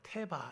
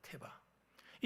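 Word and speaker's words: תבה: 여기서 그 갈대 상자라고 할 때이 갈대 상자를 히브리어 원어로 보면 뭐라고 발음하냐면 태바 이렇게 발음합니다. 테바.이 이 태바라는 말은 노아의 방주를 이야기할 때 태바어요.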